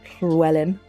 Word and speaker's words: Llywelyn: We're gonna go get out Llywelyn. Llywelyn is the Welsh pronunciation of the name.